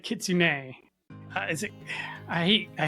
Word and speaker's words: kitsune: Um so it is go ahead chat GBT says kitsune k e ts u n eh there you go kitsune.